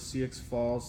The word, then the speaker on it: Sioux Falls: All right, Mike out of Sioux Falls, South Dakota. What? Sioux? Is it, how do you pronounce Sioux that?